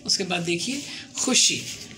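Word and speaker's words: خوش: उसके बाद देखिए खुश, तो वाव है ना, लेकिन पढ़ते हैं हम खुश।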